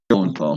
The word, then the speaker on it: Lowenthal: How do you pronounce his last name? No, Yuri Lowenthal.